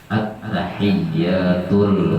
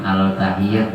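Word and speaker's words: التحيات: At-tahiyyat, jangan al-tahiyyat, jangan at-tahiyyatul mubarakatus shalawatut thayyibatu lillah. Jadi alif lamnya itu alif lam ada al-qamariyah, ada asy-syamsiyah.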